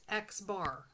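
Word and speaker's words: x̄: This symbol, x with a line on the top, is pronounced x bar.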